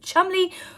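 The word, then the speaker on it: Cholmondeley: seem even the maress of chumbley Rose Hamry yes that is actually how you pronounce that one of those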